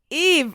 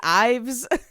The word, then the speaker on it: Eve: Eve. And in my head, I was like, don't say it wrong. Because I was saying Ives. Eve. Okay. Like Eve Saint Laurent.